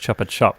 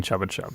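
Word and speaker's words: Chupa Chups: You mispronounced Chuppa Chup by saying Chubba Chub. Just to again. I don't think that's right. I think it's Chubba Chub.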